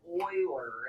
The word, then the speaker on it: Euler: So, but Euler, guys, as you start getting deeper into math, do not trust how things are spelled. The mathematician Euler is pronounced Euler, and as you get